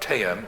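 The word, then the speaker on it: Theyyam: I was in Kerala in December 2014, and I didn't know much about, I knew very little about Teyam, or Deyam as it's sometimes pronounced, but I could see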